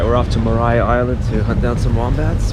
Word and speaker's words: Maria Island: Mariah sorry Mar Island it's spelled like Maria but it's pronounced Mariah Mariah Island Israel gine little chunks